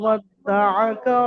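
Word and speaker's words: وَدَّعَكَ: দেখেন মা ছাড়া কোনোটাই টান হয়নি, এবারে তাসদিদ থাকার কারণে ওখানে ডবল উচ্চারণ হয়েছে দুটো, বা এবং দাল।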